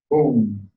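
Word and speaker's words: Hūṃ: It's spelled H-U-M or H-U-M-G. Boom.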